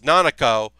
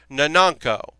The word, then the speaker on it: Nanako: Her name is Nanako, and the young girl calls her Nananko, which I find to be very cute and endearing.